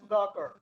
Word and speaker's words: Sudhakar: I want to pronounce correctly. Sudhakar. Yeah, Sudhakar. SU. Sudhakar. Yeah. Yes.